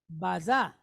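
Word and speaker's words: בזה: It's baza. Now, it's not like strange or weird. Not that kind of bazaar. It's not a place where you go and buy people's hand-me-downs. It's not that.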